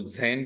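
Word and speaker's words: zehn: उसके बाद में दस को जैन कहा जाता है दोस्तों। दस या टेन को जर्मन में जैन कहा जाता है।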